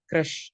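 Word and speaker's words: crèche: Okay, க்ரஷ் அப்படி pronounce பண்ணணும், க்ரஷ்.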